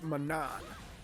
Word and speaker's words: Manon: And Manon is it Manon or Manon or as far as based off of what I'm hearing people say and what the computers the announcer says, it's Manon.